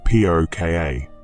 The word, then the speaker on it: Púca: The very name puker carries within it centuries of mystery and power. When you say the word aloud, pronounced p o ka, you're speaking an ancient